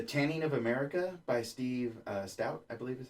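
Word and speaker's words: Stoute: The Tanning of America by Steve Stout, I believe is how you pronounce his name.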